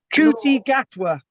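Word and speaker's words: Ncuti Gatwa: His name is Ncutigatwa. Kuti Gatwa.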